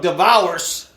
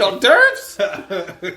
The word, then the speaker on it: hors d'oeuvres: And then even to spell it, I used to call it devours. Every time I used to see it, what's devours? What's this on the menu? You mean hors d'oeuvres?